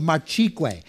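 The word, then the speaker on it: Marchigüe: the area specifically called marqu This is an area that I would be looking out for on the label it's spelled m a r c h i gue this is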